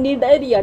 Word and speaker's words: Cnidaria: cylinder a tassel enter alta or Nigeria see is silent in need area needed year spelling is C and I da